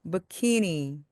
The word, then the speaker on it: bikini: 이것은요, 영어로 bikini 또는 bikini라고 부릅니다. 키라고 하는 이 가운데 부분에 강세가 오기 때문에 앞에 부분이 소리가 죽습니다. 그래서 bikini 또는 bikini처럼 소리가 납니다.